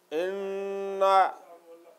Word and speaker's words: إِنَّ: للطاغين معابا Pay attention, don't make long inna, like inna sound will be from nose.